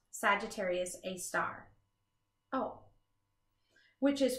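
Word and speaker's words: Sagittarius A*: Hidden in the center of the Milky Way is a black hole called Sagittarius A, pronounced Sagittarius A star.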